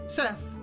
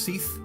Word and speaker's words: Sethe: dark so let's go seth is probably actually pronounced seath or seath but i'm going to call him seth anyway seth had become